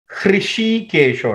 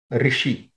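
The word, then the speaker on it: हृषीकेश: Aprameyo Hrishikesho, not Rishi. Okay, so some people will pronounce it Rishi. It is not Rishi, it is Hrishikeshah Bhadmanabho Maraprabhu Vishwakarma Manustvashta Stavishtah Stavirodhruvah.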